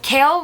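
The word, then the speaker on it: Chaol: how it was pronounced I'm going to just call him kale cuz that's what it's said they were talking after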